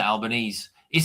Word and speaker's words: Albanese: your your prime minister, Albanese, is it um how do you pronounce is it Albanese or Albani? This is what Alban Albanesei. It's Italian.